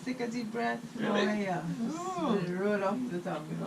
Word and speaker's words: Mweia: But it's spelled like Maria. No. Yes. Moya.